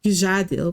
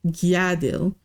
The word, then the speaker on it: Gjadil: I have a feeling that the name is not Gjadil, but Gjadil. Because you're a Nord, by all appearances. And Nords pronounce the J's like a Y sound.